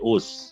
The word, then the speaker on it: Osu: It's actually Us, no? Not Osu. Us. Basically, Us. It is pronounced as Us.